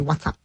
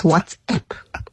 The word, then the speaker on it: WhatsApp: And I'm one of those people who say, or who get annoyed with people that say, what's up? That's asking a question. It's WhatsApp.